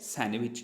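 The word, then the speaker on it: sandwich: सैंडविच। यहाँ पर भी डी हो जाता है साइलेंट, तो पढ़ते हैं हम क्या इसको?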